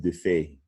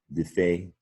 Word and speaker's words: défait: It looks like des fate, but the French pronounce it défait. Isn't that similar to defeat, défait?